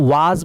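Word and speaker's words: was: बहुत सारे स्टूडेंट जो है वो वॉज को वाज बोलते हैं, ये वाज नहीं है। This is नॉट A correct pronunciation of this word. The correct pronunciation of this word is वॉज, ना कि वाज, नॉट वाज, इट्स वॉज, ठीक है।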